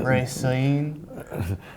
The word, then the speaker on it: Racine: Born in Racine, Wisconsin? Your pronunciation is pretty bad, but Racine.